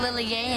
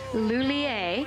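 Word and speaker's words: Lhuillier: Monique Lilier. Monique Lilier. Right. It's Monique Lulier. Lier. Yeah. Yeah. Yeah. Close enough. Close enough. Let's all say it together. Monnique Lulier.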